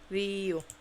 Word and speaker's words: 리우: 면제현 Myunjaehan, 박성호 Park Song-ho, Park Song-ho, 박성성호 박성호 Park Song-ho, 리우 Ryu. So not a strong R. Okay. Ryu.